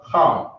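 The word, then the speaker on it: חם: Ham in Hebrew is pronounced as Ham, right?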